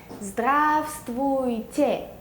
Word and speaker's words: Здравствуйте: 발음은 Здравствуйте.